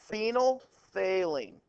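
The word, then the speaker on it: phenolphthalein: listed on the Smartboard fenal failing is how you pronounce it you actually tested this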